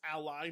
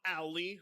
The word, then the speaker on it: Ally: Yes, ally, not Ali.